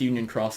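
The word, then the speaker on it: Union χ: Cross perfect segue Toby it's pronounced Union cross despite it being an ex yeah your phone game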